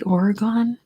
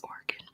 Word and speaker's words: Oregon: Yeah, I know some people say Oregon. I have no idea where that comes from. It's Oregon.